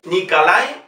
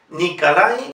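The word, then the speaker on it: Николай: Nikolai, fíjese que la O no lleva acento, por lo tanto pronunciamos A. Nikolai Rimsky-Korsakov.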